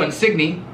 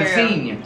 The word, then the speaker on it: Insigne: So if there's a G-N, so if there's a G-N in anything you hear, like Lorenzo Insigne. You don't say Lorenzo Insigne. You say Insigne.